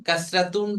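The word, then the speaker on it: كسرة: ফাতহা কিন্তু পুরাটা উচ্চারণ করব আমরা শেখার জন্য। ফাতহাতুন। আর এইটাকে বলা হবে কাসরাতুন।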